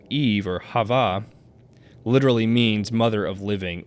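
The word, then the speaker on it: חוה: Eve means we have in Hebrew Eve would be pronounced Hava um which is a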